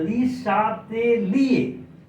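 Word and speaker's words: Le Chatelier: France में पहले बच्चों सीएच को तालाब्य श पढ़ते हैं, इसीलिए तालाब्य श पढ़ते हैं, इसलिए ली शातेलिए are silent ली शैटेलियस principal, ली शैटेलियस principal.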